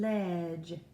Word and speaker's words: ledge: The letters D, G, E together also make the J sound, such as in the word badge and ledge. Did you hear the J sound?